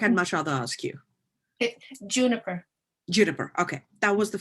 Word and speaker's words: Juniper: you pronounce your name because i've had two pronunciations in my head and i'm like i'd much rather ask you juniper juniper okay that was the first my first choice as well um juniper thank you so much for putting all of